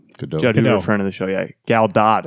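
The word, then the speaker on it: Gal Gadot: of the show yeah gal do is how she's pronounce it on Jimmy Kimmel oh she did gal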